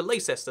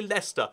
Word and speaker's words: Leicester: And he's like, oh, yeah, let's go to Leicester sometime. And it's like, oh, no, sorry, mate. It's actually Leicester.